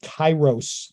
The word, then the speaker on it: Kairos: directions mostly uh her newest book is called Kairos I believe that's how it's pronounced k-a-i-r-o-s that comes out in June and